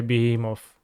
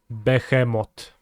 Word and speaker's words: Behemoth: do you pronounce Behemoth well if you say it in English you're gonna say be him of but if you say it with a Polish accent you're gonna say behemoth repeat after me Beckham